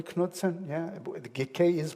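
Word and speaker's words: Knudsen: excite we well know the Knutson am i pronouncing it correctly Knutson yeah the KK is pronounced right even though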